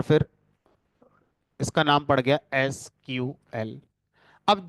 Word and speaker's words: SQL: है तो अब आज इसका नाम एस क्यूएल है बट कुछ लोग अगर इसे आज भी सीक्वल प्रोनाउंस करें तो वो सही माना जाता है गलत नहीं माना जाता तो एस क्यूएल